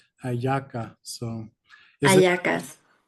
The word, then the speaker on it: hallaca: this is a ayaca spelled with an H, so it's spelled Yeah, HALLACA, ayaca.